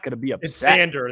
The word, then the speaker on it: Xander: if the Cubs sign exander Bogarts I'm not gonna be a sander the x is silent go ahead if I